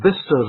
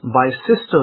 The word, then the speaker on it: Bicester: Now I remember that there's a road that was near to my house called Bister Road, Bicester. Now if I read it in the grammatical form, I would read that road as Bicester Road, because it's got Bicester.